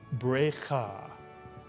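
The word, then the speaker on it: ברכה: Is the first shva under the bet pronounced a silent? If you said pronounced, you are correct. It's under the first letter of a word. It's also under the letter with a dagesh in it. So the first syllable is berei, mitsuyan. And the second syllable, cha. Put the word together and you get brecha, brecha.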